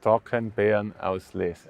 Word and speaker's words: Trockenbeerenauslese: Or how do you say it in German? In Germany, it's Trockenbeerenauslese. Yeah, exactly.